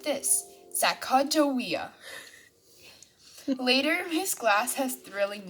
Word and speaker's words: Sacagawea: fancy name sacagawea you say it like this sacagawea later miss glass has thrilling news thrilling is